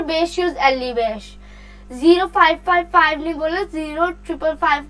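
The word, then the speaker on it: yüz elli beş: आगे यहाँ पे हम लोग जब नंबर्स प्रोनाउंस करने होते हैं तो कैसे करते हैं। यूज 100 एली बेश 55, 155 यूज एली बेश, ऐसे बोलना है। ये नहीं बोलना बीर बेश बेश, ऐसे नहीं बोलना।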